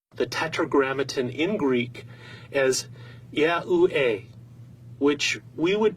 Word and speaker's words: YAHUAH: When these letters for God's sacred name are pronounced out together in their vowel forms, they would be pronounced as YAHUAH or YAHUAH.